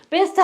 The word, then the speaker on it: best: 요거는 best 하면은 최상의, 최고의 이 뜻이에요. vest. 요거는 조끼고, 그러니까 우리 발음 정확하게 구분해서 하셔야 돼요.